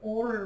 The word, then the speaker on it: Oura: I wear something called an Aura ring, which is spelled Oura.